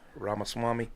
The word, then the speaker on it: Ramaswamy: That's how that you actually pronounce his name is Vivek. Like Vivek Ramaswamy.